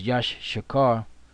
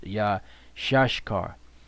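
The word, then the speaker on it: Issachar: is yeah shush car which we used to think it was Josh Shekhar which is not the Brit the proper way to pronounce it which elder to our brother is yeah shush car yeah shush car because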